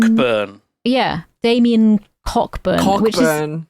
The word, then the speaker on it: Cockburn: Cockburn. Yeah, Damien Cockburn. Which is yeah. pronounced Now, in the Coburn. Coburn. Yeah, in the UK, we pronounce it Coburn.